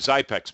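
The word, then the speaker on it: Xypex: So, and Zypex makes one as well, and that's spelled X-Y-P-E-X. It's like Xerox.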